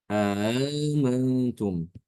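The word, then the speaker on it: أَأَمِنْتُمْ: kemudian ini ada Alif Jadi dibacanya amantum ya dipanjangkan sedikit dua harakatantum seperti itu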